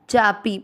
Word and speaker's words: चापि: अकीर्तिम चापी पी की मात्रा छोटी लंबा नहीं खींचेंगे।